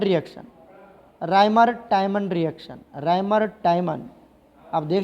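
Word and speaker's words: Reimer-Tiemann: और इसको बनाने के लिए हम यूज करते थे रायमंड-टायमंड रिएक्शन। राइमर टाइमन रिएक्शन, राइमर टाइमन, आप देख लेना स्पेलिंग क्या है, राइमर टाइमन रिएक्शन।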